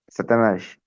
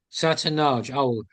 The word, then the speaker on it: Satanás: Satanás. Satanaj.